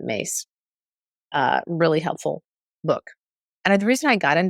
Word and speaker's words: Myss: here again Carolyn mace it's myss but she pronounced as it mace uh really helpful book